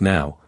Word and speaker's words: now: N is pronounced now and it refers to the present moment.